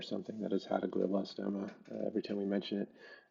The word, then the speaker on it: glioblastoma: know, brain cancer in general, or is it glioblastoma or geoblastoma?